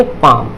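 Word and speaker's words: palm: तो क्या हो जाएगा, ये पाल्म नहीं बोलेंगे, इसको बोलेंगे पाम।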